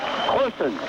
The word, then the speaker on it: Corson: Corson. Now that is the correct pronunciation. I checked with Mother because we do have Corsons and Surgeons, and this is Corson.